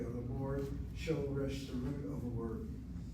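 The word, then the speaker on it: שורש: I don't say shoresh, I say shoresh.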